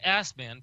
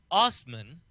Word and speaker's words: Assman: Dave Assman, pronounced Osman, lives in Saskatchewan and said the denial upset him.